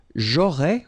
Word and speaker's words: aurais: J'aurais, remember, final S not pronounced.